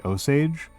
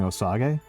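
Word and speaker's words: Osage: The native group that I associate most with Arkansas is the Oage, uh, who I spent years pronouncing Osag, uh, and then got corrected on quite harshly.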